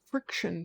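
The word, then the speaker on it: Frixion: This, by the way, my pen is a friction pen, and it's spelled F-R-I-X-I-O-N. I had a hard time finding one because I was trying to spell it like friction, you know?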